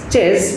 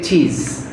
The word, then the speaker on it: chess: You had mistaken in some of the words pronunciation, like the word is chess, you say cheese.